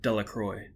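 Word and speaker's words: Delacroix: Harry Jones and Dicky delacroy the villagers pronounced his name delacroy eventually made a great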